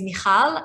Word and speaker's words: Michal: if you did um so my name is mihal and thank you for pronouncing it so beautifully and i'm originally from